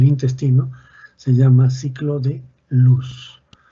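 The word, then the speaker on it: Loos: se llama ciclo de luz. Se escribe L-O-O-S. Se pronuncia ciclo de luz, o de luz, ya si quieren. Listo.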